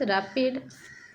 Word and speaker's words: RAPD: In the case of RAPD, pronounced as rapid, in short, oligonucleotides primers are arbitrarily selected to amplify a set of DNA fragments randomly distributed throughout the genome.